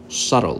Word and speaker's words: subtle: Subtle, subtle. The B is silent.